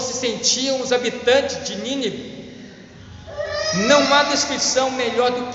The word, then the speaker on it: Nínive: Muitas vezes eu quero falar essa expressão Nínive bem perfeito, porque tem um acentinho no i, tá? E quando a gente tem um acento agudo, a gente pronuncia primeiro forte. Nínive era a cidade de Nínive, tá?